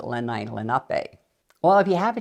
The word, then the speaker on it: Lenape: lenai Lenape in fact I grew up saying Lenny lenpy everybody said Lenny lenpy and then when I started teaching New Jersey history I found in a book you pronounce it lenai Lenape well if you have